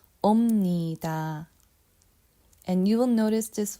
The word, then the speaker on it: 옵니다: 옵니다. Okay, notice when I say 옵니다, I pronounce with the M sound, not B sound.